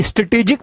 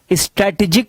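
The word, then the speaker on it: strategic: और section B ये स्ट्रेटेजिक management का है। देखिए वर्ड स्ट्रैटेजी होता है, और जब हम पढ़ते हैं स्ट्रेटेजिक मैनेजमेंट, स्ट्रैटेजिक नहीं पढ़ते, इसका प्रोनाउंसिएशन सही क्या है, स्ट्रेटेजिक मैनेजमेंट।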